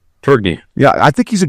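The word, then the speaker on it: Tourigny: Tiering? Turgney.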